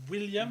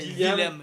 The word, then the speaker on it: Willem: Puis en allemand, le W se prononce V. Ah, ok. C'est William. Non, dans le fond, ça c'est V. Dans le fond, ça fait Willem.